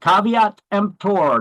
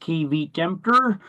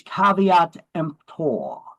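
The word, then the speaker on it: caveat emptor: has little recourse if defects appear later so caveat empor that's how you pronounce that term in Latin it's not pronounced KV tempter it is caveat empor it means let the buyer beware see we're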